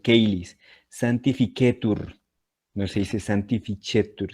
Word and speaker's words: caelis: No se dice cheli, sino caelis.